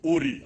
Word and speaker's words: Ur: of Genesis verse 31 Abraham came from URI I don't know how to pronounce it it is written Ur I don't know how they pronounce it but we pronounce it in our language URI Mesopotamia and settled in